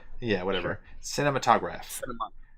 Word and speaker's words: cinematograph: Cinematographer? Yeah, whatever. Sure. Cinematograph. It's like skips a syllable.